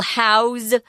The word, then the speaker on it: house: the robots again notice when we use house as a verb we change the pronunciation if it's a noun we talk about living in a house s sound but if it's a verb it's a Z will house 40 dairy